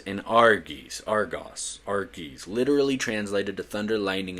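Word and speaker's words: Arges: Their names were Brontes, Steropes, and Argos, literally translated to thunder, lightning, and brightness. And yes, dude, that's exactly how they're pronounced.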